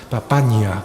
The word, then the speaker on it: Papagna: toda su vida Valentina papagna papaña pronunciando bien papagna Valentina Valentina papagna pues